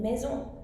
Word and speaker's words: maison: Now with only one S, the general rule is that if it's at the beginning of a word, it will still be pronounced as a S sound. For example, saumon, which is salmon, saumon. But if it's in the middle of a word, then it might be pronounced as a Z.